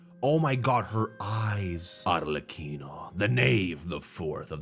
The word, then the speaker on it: Arlecchino: I think it's Arlecchino, not Chino. She's not a cappuccino. It's Arlecchino, right? That's how you pronounce it? K? Kino. Got it.